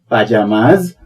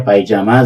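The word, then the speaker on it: pyjamas: हैं पायजामा बोलते हैं अंग्रेजी में भी उसे पजामास या पायजामा बोलते हैं यानी अंग्रेजी शब्दकोश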